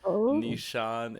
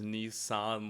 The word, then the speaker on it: Nissan: commenters names last time it is not Nishan it is Nissan like the car and I would be